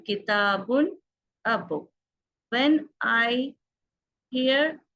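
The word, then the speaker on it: كتاب: So generally they use kitab, but actually the word is kitabun.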